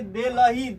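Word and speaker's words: Delhi: अब बताइए कि इसका स्पेलिंग है, कहीं ह लिखा हुआ है या इसमें कहीं ह है? ये ह कहाँ से आया? एच कहाँ से आया? कहाँ से आया? उसके बीच में छुपा था। कुछ नहीं छुपा हुआ है। आप पढ़िए दिल्ली, दिल्ली, आप पढ़िए दिल्ली, है कि नहीं है? तो इसमें ह का उच्चारण कहाँ हो रहा है?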